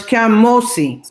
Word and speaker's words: Kamosi: This is a phonetic spelling. That's when you don't write it like this. That's to help us to pronounce it correctly. So it's Kamosi. Well done.